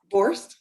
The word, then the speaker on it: Borst: Is it Borst?